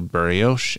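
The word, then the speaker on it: Bariloche: barrios which is b-a-r-i-l-o-c-h-e which i know i'm butchered the pronunciation of this refers to the theory that hitler had killed doubles in his bunker and escaped at least temporarily to buryoce and argentina from here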